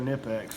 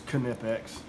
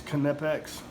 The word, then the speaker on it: Knipex: wrong I think it's knipex um I always when I first saw this I always uh pronounced it with a K silent kind of like you say knife but I think uh